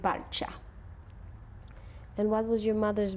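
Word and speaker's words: Balcia: How do you say it? Victor and Balcha.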